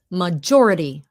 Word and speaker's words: majority: When a T normally when a T is in between two vowels, it's pronounced with a D sound like water. Water. Majority. Okay. Majority.